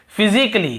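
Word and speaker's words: physically: और देखिए फिजिकली, हम क्या पढ़ते हैं, फिजिकली, ये देखिए फिजिकली, तो यहाँ पर भी ए का उच्चारण नहीं हो रहा है।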